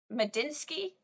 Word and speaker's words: Medinsky: I mean, I'd never heard of this man who was leading the talks, the Russian former culture minister and Putin's ghostwriter, Vladimir Medinsky.